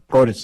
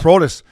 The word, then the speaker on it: Protas: Protas. Yeah. Protas.